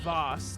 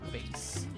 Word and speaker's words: vase: should be sold and it's pronounced Voss not vase that's funny oh you